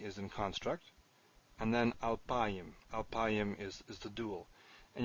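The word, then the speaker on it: אַלְפַּיִם: I know that because I mispronounced it first and was corrected by someone I was reading with. So anyway, alpayim exists, it's used.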